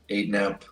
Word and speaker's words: 8nap: Is it pronounced 8nap, Jared? That's one question we all had. It is funny. Yes, it is 100% 8nap, and I can back into what that means.